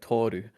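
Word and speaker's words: Tōru: like oh toru yeah oh it's longer it's like toru yeah and sometimes you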